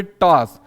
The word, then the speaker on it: टॉस: लिखेंगे और यहां पे टॉस देखिए ये दरअसल इसको हम पढ़ते हैं टॉस टास्क नहीं होता है ये वाला उच्चारण हमेशा ओ के साथ होता है ये हिंदी